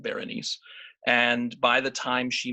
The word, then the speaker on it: Berenice: changed her name probably she was born bernice abbott ber and i seee and Marcel Duchamp always pronounced it Berenice and by the time